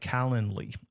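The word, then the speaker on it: Calendly: Then you can get up uh set up a tool like Calendarly. It's like calendar, but not Calendar. It's calendarly.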